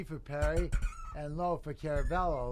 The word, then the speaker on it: Caravello: It's not Caravello. It's Caravello. as We learned last week. Yeah. Caravello or Caravello, it's how you Caravello, pronounce but it. C-A-R is in car. So it's a C-A-R is car.